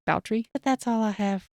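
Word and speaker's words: Báthory: I keep calling her Elizabeth Bathory. Boutrey. Yeah, Boutrey sounds much more realistic. Yeah, it's Elizabeth Bathory, but pronounced Boutrey.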